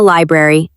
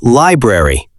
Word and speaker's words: library: Let's look at the pronunciation of library. Library. It can be a little difficult because of the R sounds.